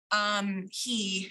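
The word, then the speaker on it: הוא: like who, even though it would be pronounced like he.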